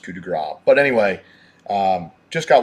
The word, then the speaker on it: Coup de Grace: pronounce this thing kind of funny they'll say could Grace or what have you but it's pronounced coup de gras but anyway um just got one of these